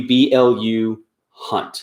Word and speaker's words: Blu Hunt: It's just literally BLU Hunt, like the word.